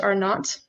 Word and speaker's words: R0: number symbolically represented by R not or R0, but it's pronounced R not.